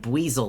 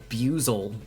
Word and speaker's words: Buizel: Oh, like Buizel, like the Pokemon. I thought the Pokemon's name was Buzel, like buoy.